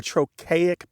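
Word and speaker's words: trochaic: One thing is we say those colors in what's called a troic pattern.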